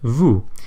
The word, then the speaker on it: vous: example take the word vous it is spelled V o us but we don't pronounce the S at the end and yes this is